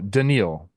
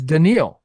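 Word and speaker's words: Dedniel: pitched in three games three oh denil denil thank you the pronunciation key is right there I am very sorry it's like Elliot for Ramos it's yeah you got to know you if you don't know you don't know it's denil Nunes three games pitched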